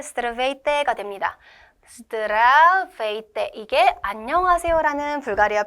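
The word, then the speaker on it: Здравейте: 이거를 한번 조금 더 유창하게 발음을 해 보면 스트라베이때 스트라베이때가 됩니다.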